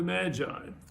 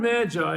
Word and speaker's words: Magi: The word Magi is kind of an English pronunciation of the Greek word magos. I know they don't sound quite the same, but somehow it comes down into English as magi from that Greek word.